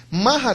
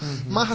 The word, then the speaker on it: maha: depois de muito tempo mahra significa grande né m a h a né o h no final ele vem como uma variante pra gente poder conseguir falar correto o sânscrito tá e lila né